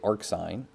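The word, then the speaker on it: arcsine: have arc sign so this is how you pronounce these as well you say arc sign Arc cosine or arc tangent and very often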